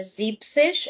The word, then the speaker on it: siebzig: 60, 70 also do not take the e of sechs and e n of sieben. So, this is not sechzig, it is sechzig. And then same and then you have here siebzig and not siebzig.